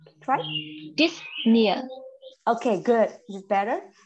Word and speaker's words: dyspnea: This, it have SP, so disp. Disp. Disp, yeah. Mm-hmm. It's not just disp, but it have, okay. And then N-E-E-R, so dyspnea. Try. Dyspnea.